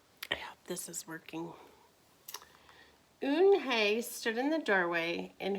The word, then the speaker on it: Unhei: due here what's your name a girl asked oon hey said hey the girl asked scrunching up her